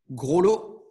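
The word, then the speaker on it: Grolleau: You could spell it G-R-O-S-L-O-T, or you could also spell it G-R-O-L-L-E-A-U. Yeah, sorry, we are French, we like to make it complex.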